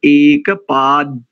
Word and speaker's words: एकपाद्: आधा हो जाता है तो उसका उच्चारण करेंगे एक पाद यानी मुह को खोले नहीं द द का उच्चारण करेंगे तो ऊपर ही रह जाएगी जी बस एक पाद ऊपर